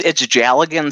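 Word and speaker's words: dealgan: It's Jalligan spelled with a D. I'm not sure why, you know. That's just the Celtic pronunciation. It's a Scottish thing.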